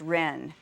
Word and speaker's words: ren: is the virtue of ren this is another virtue that is spelled differently in the two common systems of transliteration it's spelled r-e-n um or j-e-n but pronounced ren and this term basically